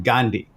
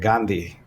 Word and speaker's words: Gandhi: My brother, he's a professor at UCLA, and he still pronounces his last name Gandhi, right? Which is the westernized pronunciation. It's Gandhi. So the D is duh in this language. But the Indian pronunciation is Gandhi, right? And it's like aspirate, Gandhi.